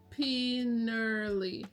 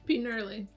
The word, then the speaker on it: Peinirli: So this pistachio baklava is from a place called Pinerli. That's it. Pinerli. So it's spelled Peinirli.